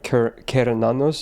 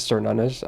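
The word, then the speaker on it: Cernunnos: but it's just Also, I think it's pronounced like Kernanos or something. But yeah, again, Celtic names is weird. So everyone says Cernanos, I myself included. But yeah, no, Cernunos is wrong.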